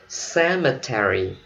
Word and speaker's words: cemetery: Chữ tiếp theo là cemetery. Mình đọc theo giọng Mỹ, cemetery. Cemetery. Mỹ đọc là Terry, không? Cemetery. Còn người Anh họ đọc có ba âm thôi, cemetery.